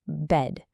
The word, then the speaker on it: bad: While many of us say bad, if you go to New Zealand, you'll often hear it pronounced bed, which means it sounds exactly like the word for the thing you sleep on.